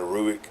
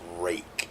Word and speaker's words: Ruike: I know it's called a rake. I keep calling it a Ruike. I don't know why I do that, but it is a rake. I think is how you pronounce it. For some reason in my mind I got Ruike, and I'm probably always going to call it that, but it is pronounced rake, I believe.